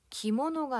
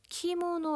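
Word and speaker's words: きもの: 글씨를 제대로 읽어 보면 기모노가 아니라 키모 노 라고 써져 있는 게 확인이 되실 겁니다 그 처키 먼 5 기모노가 아니에요 정확한 일본어 발음은 키가 된다는거 기억하시고 팀원 호란은 명칭으로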